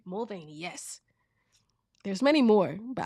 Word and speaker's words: Mulvaney: Mulvaney, yes.